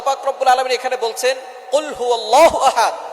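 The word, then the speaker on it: قُلْ هُوَ: আল্লাহ পাক রাব্বুল আলামীন এখানে বলছেন কুলহু আল্লাহু আহাদ। এখানে কফ দিয়ে পড়ছেন কিন্তু অনেকেই ভুল করে উচ্চারণ সঠিক না হওয়ার কারণে তারা পড়ে কাফ দিয়ে।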